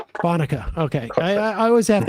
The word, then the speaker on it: Bonica: Uh Bonica. Bonuka.